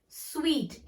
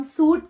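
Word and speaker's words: suite: स्वीट. SUIT. इट्स नॉट खाने वाला स्वीट. Okay. SUIT, अ स्वीट of rooms. SUIT हम सूट के तरह प्रोनाउंस नहीं करेंगे.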